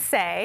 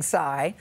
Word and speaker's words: Saie: good for our skin and the company's called say spelled s-a-i-e yeah but pronounce say I know because a lot of people were saying PSY and it's pronounced say which means what to you what's the message